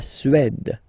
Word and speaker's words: Suède: La Suède, la Suède. Remember, accent grave, it's really open. Suède.